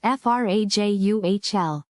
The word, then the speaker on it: fragile: Word number 6, fragile. Fragile. Serah, can you break it down for us? Pronounced frajuhl.